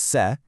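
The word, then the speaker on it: cê: A ton of these consonants share this really similar S sound ending. So, instead of trying to memorize them all randomly, just group them together in your mind. B becomes Be, C is Ce, D is De, P is Pe, T is Te, V is Ve, and Z is Ze.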